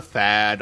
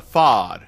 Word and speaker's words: FAD: argue about the pronunciation some will call it the fad others the fod personally I call it